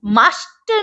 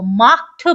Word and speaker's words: macht: अब देखो, ये है मास्टर, नहीं पढ़ेंगे इसको, माख्ट पढ़ेंगे, गले से आवाज है, माख्ट, ठीक है?